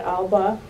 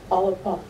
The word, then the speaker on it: Alba: So it's not Alba, but it's Alba.